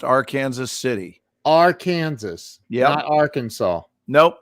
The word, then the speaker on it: Arkansas City: you look at it what it says is arkansas city only it's pronounced our kansas city it is our kansas